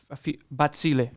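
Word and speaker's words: Bazille: Like I mentioned, we are going to be covering Zebra, Bazzill, especially Bazzill because Bazzill, I need to pronounce it properly, Bazzill.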